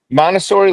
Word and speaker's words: Montessori: Montessori toys or Yes, Montessori learning aids? Montessori learning aids.